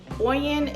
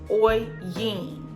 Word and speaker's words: Oyin: i'm so embarrassed but oyen is actually produced oi yin i've been saying it wrong this entire time but you know you